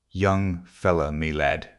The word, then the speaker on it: young-fellah-me-lad: This curious phrase he pronounced as if it were all one word, young fellow, me lad.